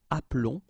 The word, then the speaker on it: appelons: they follow the rule, but then you keep only one L, so that's the reason why you will get the sound appelons, okay? This is mute or silent, appelons, and then vous appelez, okay?